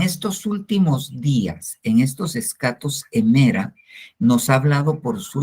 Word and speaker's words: escatos hémera: Más o menos así como lo escribí, se pronuncia en el griego, escatos emera.